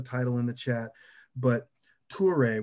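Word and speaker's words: Touré: in the chat but tuare which is spelled like the word tour like t-o-u-r with an e and an apostrophe over the e uh he wrote a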